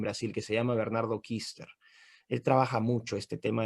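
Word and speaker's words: Küster: Bernardo Kuster, se pronuncia Kister.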